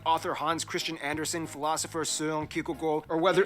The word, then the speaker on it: Søren Kierkegaard: Hans Christian Andersen, philosopher Søren Kierkegaard, or whether... Pronounce his name? That's actually how you pronounce his name. Wow. It's not Søren Kierkegaard.